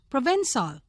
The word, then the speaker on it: Provençal: Provençal, pronounced Provençal, of the district of Provence in France, known for its baths and its grapevines.